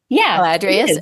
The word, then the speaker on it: Caladrius: And that has to do with the Caladrius. Is that how you say it? Yeah. Caladrius.